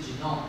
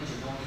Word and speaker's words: genome: 那如果只是名词是 genome，后面不要念 genomic 这样的话，好，所